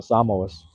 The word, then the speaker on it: Samoa: That's the way to pronounce it, the Samoas.